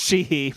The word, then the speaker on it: Sheehy: It's just Sheehy, but I wanted to just make that noise.